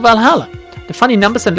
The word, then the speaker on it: VA-11 HALL-A: hotspot valhalla by mickey the name sounds silly and a bit hard to pronounce what maybe if you pronounce it va11 hell a a good thing it's actually called valhalla the funny numbers and